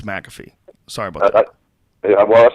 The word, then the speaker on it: McAfee: MC f e mcaf so I I thought it was maffy all this all these years I really I called it maffy over and over again it's McAfee sorry about that yeah